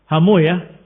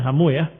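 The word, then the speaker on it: حمويه: Sebagian membacanya hamu yaah karena menghindari kalimat wis ya. Tapi aslinya adalah hamawai rohai diakhiri dengan wih wai wih. Tapi karena dikatakan wallahu taala alam wih itu adalah nama setan atau suatu yang jelek maka para ahli hadis membacanya dengan dibalik harakatnya. Bukan rahu, bukan raha hawai tapi rahuyah. Bukan hawai tetapi hamuyah.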